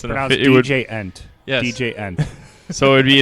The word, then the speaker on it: djent: They're trying to get it added to the Oxford Dictionary, so it's DJ-ent. Yes. DJ-ent. So it'd be an That's the correct pronunciation.